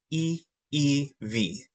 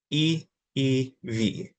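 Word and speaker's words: ʻiʻiwi: Starting at the very top, the easiest way to pronounce our Inoa is E-E-V. E-E-V.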